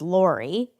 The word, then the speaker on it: Laray: Her name I happen to know is Lori, and it's spelled Laray, which is different for sure.